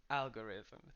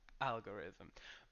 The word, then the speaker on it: algorithm: first word is algorithm algorithm so the stress is in the first syllable algorithm make sure that at